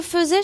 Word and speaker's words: faisait: troè personne du pluriel donc attention FAI ça se dit faisait ça s'écrit fait F a i s a I e n t comme il le faisait